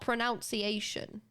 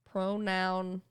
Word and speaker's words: pronunciation: It's not pronunciation. Pronunciation. It's just pronunciation. I don't really know why either, but it's not that one. As far as I'm aware, it's not that one. It's this one. Pronun. No, there's no O here. Because it has nothing to do with pronouns.